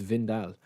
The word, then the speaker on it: Wijndal: We've also got a left back on Windal, or Wijndal. Is it Vindal? I think it's Vindal. I think that's how you pronounce it.